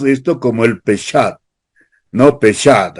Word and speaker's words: Peshat: Peshat, así más o menos se pronuncia.